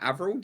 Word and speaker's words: AVRL: Yeah, no, I was gonna jump on is it AVRL? Did I pronounce it right?